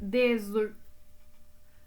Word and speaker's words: œufs: Et on dit un œuf, des œufs. On ne prononce pas le F à la fin quand c'est au pluriel.